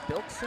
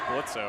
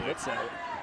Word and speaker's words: Blitzo: Trent's going to take out number 0, Biltzo? How do you say his name? It's Blitzo, actually. Blitzo.